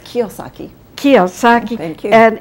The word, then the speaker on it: Kiyosaki: Am I pronouncing it correctly? Thank you. And it's Kiyosaki. Kiyosaki.